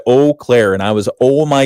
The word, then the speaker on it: Eau Claire: Yeah, but that's, they want to say that's the correct pronunciation. I think, if I were to say that my name's pronounced a certain way, you kind of have that. if you own it, you can name it whatever you want. So, okay. If you haven't immersed yourself in the Eau Claire culture here locally, you'll find out very quickly that is definitely how they prefer it to be pronounced.